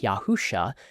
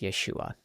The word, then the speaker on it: Yeshua: If the name were pronounced something like Yahusha, the Greek translators would have represented the initial sound with an alpha rather than an ada. Their choice of ada proves that the Messiah's name does not begin with Yah.